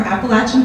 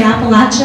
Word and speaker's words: Appalachia: people pronounce it correctly, just like some people say Appalachia and some people say Appalachia.